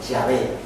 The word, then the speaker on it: Yahvé: ¿Y cómo pronunciaban esto los judíos? Los judíos lo pronunciaban Yahvé.